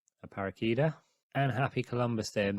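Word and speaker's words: Aparecida: Lady of aarish today that's how you pronounce it a paraka and happy Columbus Day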